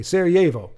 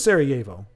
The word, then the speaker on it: Sarajevo: We don't pronounce the J as you do. It's more like a Y. Okay, Sarajevo. So it is Sarajevo.